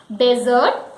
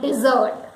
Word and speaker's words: dessert: Dessert. They are called dessert. Though the spelling is same as dessert, but it is not dessert, it is dessert.